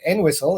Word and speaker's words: Entwistle: And yesterday, Nigel, I headed to Entwistle, and I said it right because a townsperson taught me how to say it.